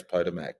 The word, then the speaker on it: Potomac: How do you pronounce Potomac in Washington DC?